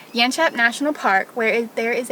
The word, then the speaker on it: Yanchep: of here to the yanchep or yin chip as the australian guy tried to teach me how to say it yanshap national park where there